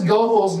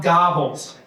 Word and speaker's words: Goebbels: How is Goebbels not Gobbles?